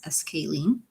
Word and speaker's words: scalene: the other one is scalene. Scale. Okay, so how do you pronounce this? Scale. You know, like when you like scale, like scale of a fish, or scale like the weighing scale, scalene.